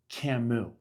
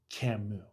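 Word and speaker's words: Camus: For those of you who don't know, I said to her, just so you know, his name is pronounced Camu. It's Albert Camu.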